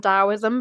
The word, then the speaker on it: Taoism: the tow Dao sorry it's pronounced Dao and dosm but it's spelled to and taism um and I always